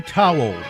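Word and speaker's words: Towle: Sydney Towel, I believe is how you say it. T O WLE, a social media memoist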